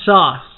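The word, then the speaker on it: Sause: call me s-a-u-s-e yes it's pronounced sauce okay would the room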